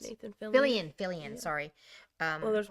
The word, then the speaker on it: Fillion: Nathan Killian. Did I say it right? I'm so bad for names. Nathan Fillion.